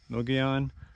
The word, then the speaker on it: Mogollon: geo ll o n mo Gyan I think it's how you pronounce it anyway it's just Rim